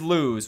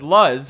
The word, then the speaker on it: Luz: so our main character is lose which I pronounced as Luz for the longest time whoops the real world